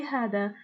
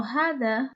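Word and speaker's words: هذا: order to remember that the letter alif is not written but pronounced now remember hada is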